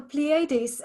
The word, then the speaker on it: Pleiades: not always just the so that's how it's pronounced the pleiades um to feel of